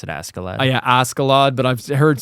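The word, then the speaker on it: Askeladd: I've heard it pronounced Ashalad. I always pronounce Ascalad. Yeah, I pronounce it Ascalad. Yeah, Ascalad, but I've heard some people say Ashalad.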